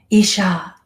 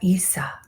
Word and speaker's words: Yeshua: I've heard it before there are no letters that can be recognized in the language of the ancient Aramaic systems why does not exist J is not effectively pronounced therefore it would be pronounced with an AI in your languages it would be a schwa thank you it could